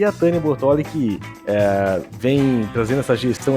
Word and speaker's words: Bortoli: O telemarketing, quando liga, fala: quero falar com a Tânia de Bortoli, né? Eles não têm, mas é Bortoli.